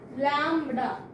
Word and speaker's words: lambda: It is a Greek word. Pronunciation is lambda.